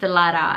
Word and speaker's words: Diletta: Like the double T is almost an R, it sounds almost like an R, and that's how my name is pronounced basically in the States, because my name is Diletta with a double T, but it is pronounced Diletta, and so that's why I go by.